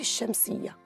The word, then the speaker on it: الشمس: اللام الشمسية تكتب ولا تلفظ، ويكون الحرف الذي يلي اللام دائماً مشددة. دعونا نركز أكثر في كلمة الشمس. عند لفظ كلمة الشمس، فنحن نلفظ حرف الألف وحرف الشين المشدد، الشمس.